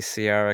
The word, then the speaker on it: Ciara: I always say Ciara because of the I. It turns it into a S sound instead of a hard C.